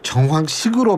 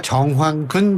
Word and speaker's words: 정황근: 제가 정황근 농식품부 장관을 정황식으로 발음을 했네요. 제가 정정하고 사과의 말씀을 드립니다. 정황근 장관입니다.